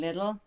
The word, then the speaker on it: Lidl: And it's also Lidl, by the way. Oh yeah, I was Make wondering. sure- I asked yesterday, Lidl. What does that rhyme with so I can remember? Nothing. Nothing. Well, needle, which is not a very nice thing to but the thing remember.